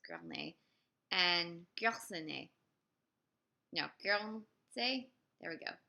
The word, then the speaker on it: Guernsey: Is that how you pronounce it? It's Gournay. And Guernsey. No, Guernsey. There we go. Guernsey.